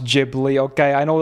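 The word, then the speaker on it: Ghibli: gibli it's not it's jibli gibli would make more sense to me as well that's how I used to pronounce it but apparently it's jibli because in Japanese they say jiburi A J sound okay not giuri it's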